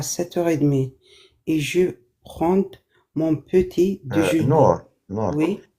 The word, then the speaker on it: prends: Je me réveille à 7h30 et je prends mon petit déjeuner. Nour, Oui. dès que D se prononce pas.